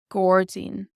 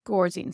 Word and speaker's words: gairdín: Gordzine. Gordzine. So this OR here does affect our vowels. Often in Irish, the consonant that comes before or after these vowels will change them as well.